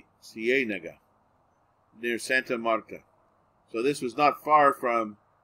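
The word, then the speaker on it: Ciénaga: It took place in the town of Cienega. In English, you never have two strong vowels together without a consonant separating them. So those double vowels are hard for Americans to pronounce. Cienega, near Santa Marta.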